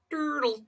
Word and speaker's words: turtle: you say it ponies turtle turtle this is a turtle a turtle or you could pronounce the T like a d and say turtle turtle